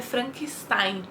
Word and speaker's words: Frankenstein: E por ser suíço, e o Paulo do grupo falou pra mim que a pronúncia correta é Frankenstein.